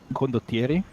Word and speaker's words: condottieri: What's the correct original localized pronunciation of condottieri? Condottieri? There we go. Nice. I just Yeah, wanted to hear it. That's it. That's it. That's the word. That's basically like your version is acceptable.